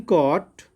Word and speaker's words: caught: In caught, again GH.